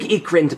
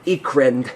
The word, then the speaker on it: Ickrind: say, "My name's Ekrind, by the way. what? Ekrind. That's spelled ICKRIND.